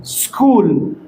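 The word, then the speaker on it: school: وهوم تعني بيت مدرسه سكول سكول هذا الحرفين مع بعض مثل حرف الكاف باللغه العربيه سكول سكول صديق فر فر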